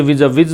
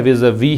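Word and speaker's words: vis-à-vis: किसके संबंध में, विज़ वी का मतलब क्या है, पहले तो इसका प्रोनाउंसिएशन समझिए, विज़ नहीं है, विज़ वी है, और ये प्रेपोजिशन है किसके तुलना में, यूएस डॉलर की तुलना में।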